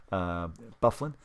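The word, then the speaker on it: Byfuglien: Bufflin is the way it's pronounced, but Byfuglin or Fuglin is the way it's pronounced if you read it phonetically.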